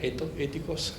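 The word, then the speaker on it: ἠθικός: The pronunciation is right, ethikos.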